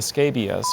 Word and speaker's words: scabious: The nectar-rich flowers of the scabious are attractive to many moths and butterflies.